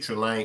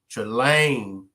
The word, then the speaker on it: Trelane: Salute, Trelane. Appreciate you for pulling up. And for everyone that wasn't on the demonstration last night, Trelane is not the male Trelane, but she pronounces her name Trelane.